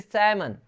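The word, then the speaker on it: salmon: वैसे ही सैमन, सैमन का मतलब होता है एक प्रकार की मछली है, सैमन।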